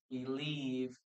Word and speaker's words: believed: 99% of the cases we don't pronounce the letter E.